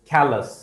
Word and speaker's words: callous: l o u s its pronunciation is callous right so i'll just write ca plus callus why callous now what